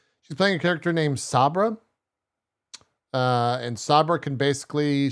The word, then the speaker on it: Sabra: power but I'm saying like s-a-b-r-e like no s-a-b-r-a hey yeah guys I know how to pronounce saber what her name's saber Sabra here's all I'm